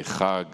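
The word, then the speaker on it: חג: Okay, as an Israeli, I always say Chag, Chag Sameach, happy holiday, Chag Pesach, you know, Passover.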